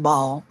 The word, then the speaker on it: Baal: got el you've got Yahweh and you've got Baal which some people call Bell but his name's actually pronouncing ball L is actually in Genesis Allah is actually